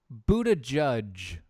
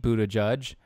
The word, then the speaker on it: Buttigieg: You mean like, hey, Pete Buttigieg, which is apparently how you pronounce his name. Hi, Pete Buttigieg.